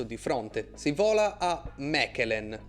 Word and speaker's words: Mechelen: Si vola a Mechelen o Malin per chi lo pronuncia in francese, squadra che milita nel campionato